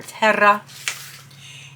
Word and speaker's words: Terra: of the spades is Terra, or it says roll your R, Terra.